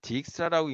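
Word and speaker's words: Dijkstra: 자, 이걸 딕사라고 있는 사람들도 간혹가다 있는데 이 네덜란드 사람이고 이분이 자기 이름은 다이스라고 읽으라라고 했는지 모르겠는데 영어권 사람들은 다 다이스라고 읽더라고. 그래서 저도 그냥 다이스라고 읽는 거예요.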